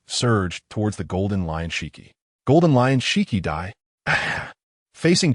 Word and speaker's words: Shiki: However, the only thing Shiki was dissatisfied with was that this brat actually got his name wrong. On the Golden Lion, Shiki, not Sheri, bastard, go to hell like Roger.